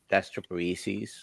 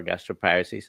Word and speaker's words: gastroparesis: several times I got got gastroparesis or gastroparesis I pronounce it both ways uh and lately I've